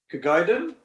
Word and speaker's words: Cadogan: How do you pronounce his name? Is it Cadogan? Cadogan. It's a Cadogan.